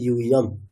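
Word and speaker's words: यूयम्: নেই অন্তস্থ একমাত্রা আছে তাহলে এখানে ইউইম তার উচ্চারণটা ইউইম আচ্ছা কার মুখস্ত হয়নি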